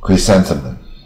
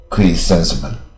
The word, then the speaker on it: chrysanthemum: 啊，菊树或菊花啊，chrysanthemum 啊，四个音节啊，英文是音节字，chrysanthemum 啊，不好念，但是